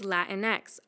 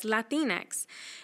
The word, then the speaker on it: Latinx: One word that has been used more recently is Latinx, also sometimes pronounced as Latinx.